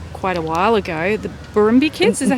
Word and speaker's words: Barrumbi: that you wrote quite a while ago, the Barrumbi Kids, is that how you say it? The Barrumbi Kids, the Barrumbi Kids, yeah.